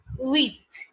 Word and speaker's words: huit: french is written down is huit which is pronounced as wheat wheat okay width width width okay with after